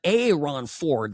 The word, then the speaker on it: Aaron Ford: But a Ron Ford, that's how he pronounces his name, uh, attorney general here would be a absolutely terrible governor.